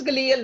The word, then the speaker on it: glial: It is glial, not glial.